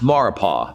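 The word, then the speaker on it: Maurepas: mexico rapists it's pronounced maripo the s is silent and it's a body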